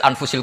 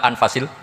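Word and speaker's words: أنفس: Di sini ditulis anfusil kutub. Kalau saya baca anfasil kutub karena maknanya kitab terbaik. Kalau kitab terbaik bacanya bukan anfus tapi apa? Anfas.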